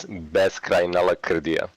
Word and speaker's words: Beskrajna Lakrdija: It's the way you read it is Beskrajna Lakrdija. Beskrajna Lakrdija.